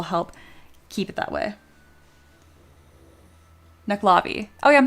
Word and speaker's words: Nuckelavee: Knucklavi. Oh, yeah. I'm saying knuckle. Like knuckle. Yeah. You don't pronounce the second e.